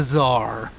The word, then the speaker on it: Tsar: he likes and it's it begins with a c and ends with an r and rhymes with guitar it's the Tsar thank you for the